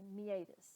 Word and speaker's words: meatus: When I use a line like this, that tells me meatus. So it's kind of all together.